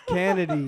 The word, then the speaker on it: Kennedy: say it right. What is It's Kanady. Kennedy?